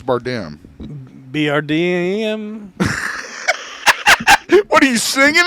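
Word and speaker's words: Bardem: is that right Bim I think I'm pretty sure it's bardam BRD what are you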